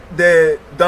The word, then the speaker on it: Dan: Nord, qui est aujourd'hui dans notre pays, en Côte d'Ivoire, qui se fait appeler aujourd'hui les Dans, qui est une mauvaise prononciation de son nom véritable, qui est Dan.